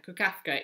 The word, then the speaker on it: Kukafka: Kukafka, yeah, Kukafka is how I'm pronouncing it.